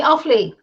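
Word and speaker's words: Offaly: the north of ireland um county awfully county awfully okay so i said it right then yeah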